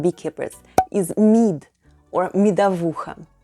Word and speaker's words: медовуха: Another popular drink among beekeepers is mead or МЕДОВУХА /myedavoohha/. Say it with me: МЕДОВУХА /myedavoohha/.